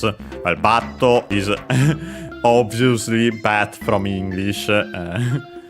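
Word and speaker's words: バット: Used more for bat, as in baseball bat. Accented on the first syllable.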